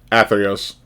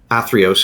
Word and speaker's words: Athreos: How do you pronounce it again? Athreos. Athreos.